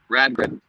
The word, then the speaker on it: Radgrid: How do you pronounce the Viking vessel you're on? Radgrid.